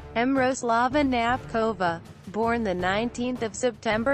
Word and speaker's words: Knapková: Miroslava Tabinkov, Knapkov, Czech pronunciation, Miroslava Knapkova, born the 19th of September 1980 in Brno,